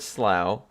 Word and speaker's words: Slough: But I will note that with this word slough, you are pronouncing all the letters. And then you, ow. O-U-G-H, ow. The GH is g, ow, g, oh. It works. You're hitting all the letters. It's not like it's pronounced sl. That would be dumb.